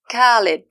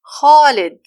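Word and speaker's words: خالد: They mispronounce it as Khalid. This is how letter Kha looks. The Kha is pronounced by approaching the root of the tongue to the soft palate and letting the air rub through it.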